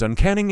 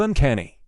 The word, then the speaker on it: uncanny: It's not a common one, but my roommate says uncanny instead of uncanny.